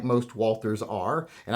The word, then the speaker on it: Walther: just reliable like most walters are and i'm not saying valtter so shut up for people out there that are getting on me about the pronunciation uh like most walters